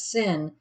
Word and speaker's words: CIN: this capping inversion or otherwise known as syn it's cin is how it's spelled convective it's basically a